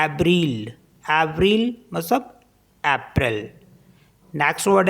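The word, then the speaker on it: avril: वी आर आई एल इसको पढ़ते हैं ब्रल एव्रिल मतलब अप्रैल नेक्स्ट वर्ड है बंजू इसको बंजू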